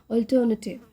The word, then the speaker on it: alternative: करते हो, an alternative, तो लोग बहुत जो हमारे इंडिया में बोलते हैं इसको अल्टरनेटिव नहीं बोलते, इसकी सही जो प्रोनाउंसिएशन है वो है अल्टरनेटिव, ठीक है, अल्टरनेटिव बोलते हैं।